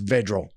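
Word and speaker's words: Vedral: than td passes three actually i think his last name is pronounced vigil last week against indiana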